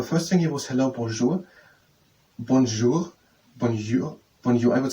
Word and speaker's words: bonjour: The first thing here was hello, bonjour. Bonjour. Bonjour. Bonjour. I would say bonjour. But it is bonjour. Yes, and in English the J is most of the time the J. Bonjour.